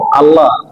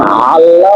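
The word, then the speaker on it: الله: তো আল্লাহ শব্দ শুরুতে হামজা। আই আল্লাহ শব্দ শুরুতে কি? আল্লাহ নাকি? আল্লাহ। আল্লাহ। তো হামজা বললে হয় আল্লাহ। আর যদি আইন বলি তখন কি হয়? তখন আল্লাহ বা অন্য একটা শব্দ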